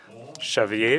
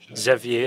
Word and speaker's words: Xavier: Xavier is how it's pronounced in Catalan, n'est-ce pas? And it's Xavier in French.